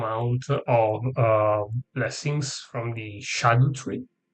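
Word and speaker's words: Scadutree: I have exactly the maximum amount of blessings from the shadow tree. Apparently, that's the way it should be pronounced instead of a skadu tree.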